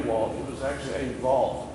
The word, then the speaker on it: Ewald: Ewald, it was actually Ewald, because they pronounced the W as a V.